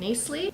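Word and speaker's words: Knisley: did they're by Lucy I think is pronounced nice Lee and first one is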